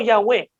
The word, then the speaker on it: Yahweh: de Dios en hebreo Cómo se pronunciaba era un misterio lo más cercano era ya veo Yahweh era lo más cercano ya pero era un